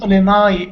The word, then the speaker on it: Illinois: Do we pronounce it Illinois?